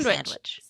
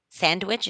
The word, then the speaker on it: sandwich: There was no no D in there.